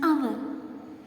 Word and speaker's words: hour: Next one, hour. Here, H is silent.